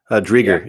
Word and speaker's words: Driedger: Drieger, yeah.